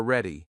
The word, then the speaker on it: ready: Now the word ready. We stress the first syllable again.